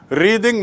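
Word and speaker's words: wreathe: एंड टू रिद माने, उच्चारण देख लीजिए, टू रिद जब वो क्रिया होती है तो रिद, रिद माने गूंथना, और रेथ माने फ्लावर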